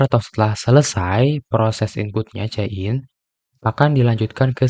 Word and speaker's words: cin: Jadi bagus untuk diketahui bahwa cout itu dipronounce cout dan cin itu dipronounce-nya adalah cin.